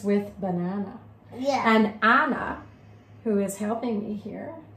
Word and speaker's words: Ahnah: And Ahnah, who is helping me here, rhymes with banana as well.